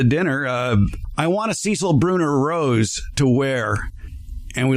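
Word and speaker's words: Cécile Brünner: I decided to get a and I will pronounce it correctly now Cecil brune Rose for my own garden just to remember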